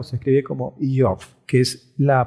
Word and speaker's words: Iyov: Entonces, iniciamos con este libro de Job, conocido popularmente como Job, y que en hebreo se pronuncia o se escribe como Iov, que es la pronunciación que vamos a utilizar en este estudio.